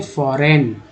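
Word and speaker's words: foreign: विदेशी को बोलते हैं फॉरेन, फॉरेन। जी एन को जो है यहाँ पर ना बोला जा रहा है, जी का उच्चारण साइलेंट होता है, तो फॉरेन।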